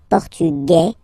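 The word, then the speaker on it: portugais: The Feminine form okay masculine portug you don't pronounce the S feminine form portuges you pronounce this z sound okay and then remember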